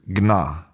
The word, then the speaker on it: Gna: And in Sanskrit the word is Gna which is spelled G N A. Now the reason why that